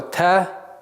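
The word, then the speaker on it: ت: Буква Та – мягкий звук, и произносится, и пишется в транскрипции примерно таким образом.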